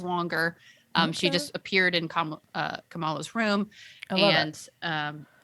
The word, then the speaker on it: Kamala: she just appeared in kamala's room and um it's all watching the show it's pronounced kamala i know we our vice president kamala harris it's different but in the show it's kamala and um and so she